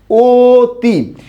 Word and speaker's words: অতি: উচ্চারণ করি কি অত অর্থাৎ এখানে ছিল অচ্চারণ হয়েছে কি ও এখানে ছিল অ এর মতই উচ্চারিত হয়েছে আমি আশা করি বিষয়টা